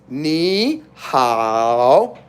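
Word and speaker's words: 你好: Now, technically, ni is 3rd tone and 3rd tone, but when you have 3rd tone and 3rd tone together, that's why on the end, it's going up. So when you pronounce it, it's ni hao.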